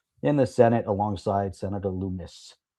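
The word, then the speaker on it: Lummis: That Wyden, a co-sponsor of the standalone Barca BRCA legislation in the Senate alongside Senator Loomis. Like hummus. It rhymes with hummus.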